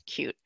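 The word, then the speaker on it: Qt: spelled cutie a lot of people think it's pronounced cutie but it's actually pronounced acute and it's a JavaScript based again declarative language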